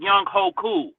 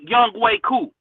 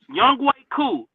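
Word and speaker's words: Younghoe Koo: Did you see when young young ho I mean, no, his name is not is the way it's spelled is spelled like Young Hoku, but it's Young Way Coup, right? Young Way Coup, the kicker for the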